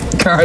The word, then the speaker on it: Cara: The hosts of Good Day Sacramento did everything they could to make their interview with Cara Delevingne as uncomfortable as possible. First, they mispronounced her name. Much more. Carla Delevingne is in the movie.